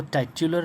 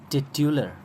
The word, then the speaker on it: titular: Okay, और इसको टाइट्यूलर नहीं पढ़ेंगे। टाइटल तो हमने पढ़ा, लेकिन इसके एडजेक्टिव को हम टाइट्यूलर नहीं पढ़ेंगे, बल्कि टिट्यूलर, ये है इसका प्रोनाउंसिएशन।